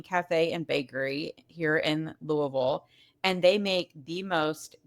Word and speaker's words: Louisville: I can tell that you're there because you pronounce it properly, Louisville.